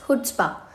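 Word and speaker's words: chutzpah: Let's move to the next word which is hood spa. देखिए इसमें ना जो सी होता है वो थोड़ा सा अ साइलेंट होता है। तो हम इसको हुड्स्पा बोलेंगे।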